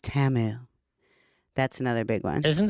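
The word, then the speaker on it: Temu: Yeah, but it's T Mu, but it's pronounced Tamu.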